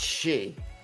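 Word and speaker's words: sídhe: Yeah, DHE, but it's pronounced she. Like banshee, that means female she.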